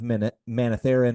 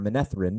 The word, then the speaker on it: Manetheren: There may be something going on here with the old blood of Manetheren or Manethrin, depending on how we want to pronounce it, really kind of like